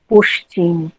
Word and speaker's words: পশ্চিম: যেমন অনেকে বলেন পশ্চিম, নিশ্চিত, নিশ্চয়, কিন্তু চ বর্গের সঙ্গে যখন তালব্য উচ্চারিত হয়, সংযুক্ত হয়ে, তখন কিন্তু সে তার নিজস্ব চরিত্রে অর্থাৎ এসএইচ উচ্চারণ হবে। যেমন নিশ্চিত, পশ্চিম, পশ্চাৎ।